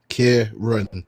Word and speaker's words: Kieran: Kieran. It's just a soft Karen.